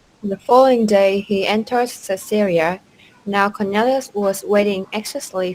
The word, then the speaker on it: Caesarea: Caesarea. Now that's a little tricky to pronounce also. Caesarea. So it's more like says, Caesarea.